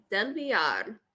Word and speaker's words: Villar: So my last name is Cuban and it's pronounced Del Villar. So it's that double L is a Y, and give it a little trill on the end there.